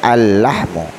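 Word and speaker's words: اللحم: Kenapa alnya tidak boleh dibaca? Karena bertemu dengan huruf syamsiah. Mana huruf syamsiahnya? Huruf lam. Jadi cara membacanya al-lahmu.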